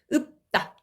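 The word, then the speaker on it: 없다: 읍다. 읍다. 리을이 탈락하고 이 뭐지 이거는? 피읍이 음절 말에서 발음이 안 되니까 비읍으로 바뀐 거. 요거는 음절의 끝소리 규칙. 적용해서 최종적으로 읍다라고 발음이 되는 겁니다.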